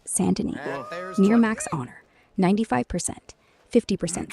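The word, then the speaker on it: Saint Denis: a bust goo streaming chapter 6 sandin Saint Denny pronounced sandin near max honor 95% 50% store by discount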